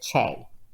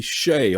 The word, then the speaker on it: Chae: But really, the spelling pronounces it Che. So it's Che, be all end all, not necessarily Shay, although you're okay with that, but it's Che.